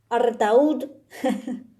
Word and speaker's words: Artaud: Hoy les quería leer a Artaud, o como se pronuncia en francés, Artaud, como el disco de Spinetta.